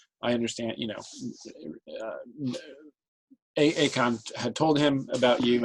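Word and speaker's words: Eacchan: Akon. Okay. And that's spelled E-A-C-C-H-A-N. E-A-C-H. C-C-H-A-N. Akon.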